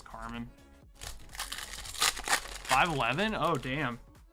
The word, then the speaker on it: Carmine: It's spelled Carmine, but I think it's Carmen.